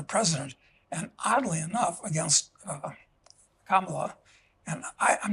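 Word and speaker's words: Kamala: name uh but actually neither of them are correct it should be pronounced uh kimala which means in Spanish uh how bad how bad how bad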